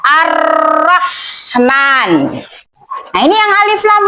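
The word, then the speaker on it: الرَّحْمٰن: Maka huruf lamnya itu dibaca dilebur ya. Dilebur ke huruf syamsiah itu. Kayak Ar-Rahman.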